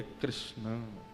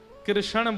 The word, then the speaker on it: कृष्ण: ठाकुर जी का नाम लोग अधिकतर कृष्ण शब्द का उच्चारण गलत करते हैं। कई लोग कृष्ण कहते हैं। कई लोग कृष्णा बोलते हैं। कई लोग कृष्ण बोलते हैं। बहुत उच्चारण उसका शुद्ध नहीं कर पाते। शुद्ध उच्चारण कृष्ण जय।